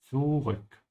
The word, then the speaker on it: zurück: Also for your pronunciation, make sure you pronounce the T first. Actually not here, on the Z. Yeah, because the Z in German is a Z sound. Zurück.